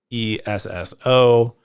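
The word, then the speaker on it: Esso: used to called used to be called so e sso which was the pronunciation of uh the acronym so standard oil,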